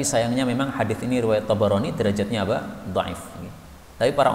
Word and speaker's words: Tabarani: Ini sebagian orang bacanya salah, Tobroni, salah ini Tabarani, baknya di fathah. Karena ini asalnya dari Tabariyah menjadi Tabarani, bukan Tobriyah, maka salah itu bacaan Tobroni. Tobroni itu orang Jawa, orang Arab Tabarani.